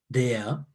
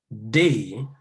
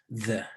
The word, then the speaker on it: the: Your tongue is coming closer to being in between your upper and lower teeth, okay?